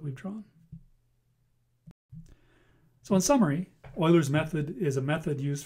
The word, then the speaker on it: Euler: Well, that concludes our screencast on Oilers's method. And please make a special note of this. It's pronounced oiler.